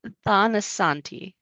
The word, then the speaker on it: Tanasathi: Tanosanti. Tanosanti. The T is aspirated. So it doesn't sound like a th tananti.